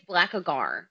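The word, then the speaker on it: Blackagar: on it excuse me it's black agar it's black what did i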